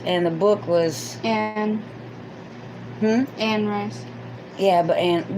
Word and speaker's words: Anne Rice: rice yeah but and we called her andy rice but it's ann i know she hates annie rice um that throws me off because her name is spelled a-n-n-e yeah but it's anne rice but it wasn't the